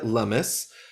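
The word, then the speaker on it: Lummis: here uh Senator Cynthia lumus uh it rhymes with hummus it uh now the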